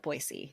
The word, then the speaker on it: Boise: side adjacent to that boisey you never say Boise boyy oh boisey boyy that's really good to know I think I've said